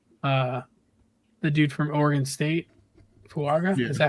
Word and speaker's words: Fuaga: The dude from Oregon State, Fuaga.